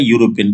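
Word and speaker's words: European: देखो यहाँ पे वर्ड दे रखा है यूरोपियन, देखो यहाँ ई मत देखो, आप इसका प्रोनाउंसिएशन देखो, प्रोनाउंसिएशन क्या है, यूरोपियन। यूरोपियन को आप कैसे लिखोगे, यूरोपियन, आप ऐसे लिखोगे, तो देखो सबसे पहले इसका प्रोनाउंसिएशन करेंगे, तो यूरोपियन में पहले यार क्या बोल रहा है, यू यू में देखो पहले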